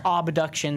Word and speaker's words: Obduction: And it's Obduction, spelled like abduction, but with an O.